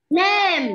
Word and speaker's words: name: Không kéo dài miệng ra như vậy sẽ làm mất âm tiếng Anh.